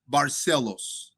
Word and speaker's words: Barcelos: Uh Hony Barcelos or you can say Barcelo.